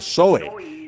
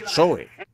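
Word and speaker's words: ζωή: Dios o vida eterna se pronuncia soe Z o e soe vida y a todos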